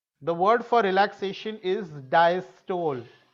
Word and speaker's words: diastole: The word for relaxation is diastole. Diastole is the pronunciation.